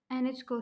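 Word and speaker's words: Anitschkow: इसकी correct pronunciation यही है एनएच को सेल्स।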